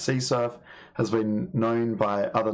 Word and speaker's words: CSRF: crossout request forgery or csrf which can be pronounced c surf has been known by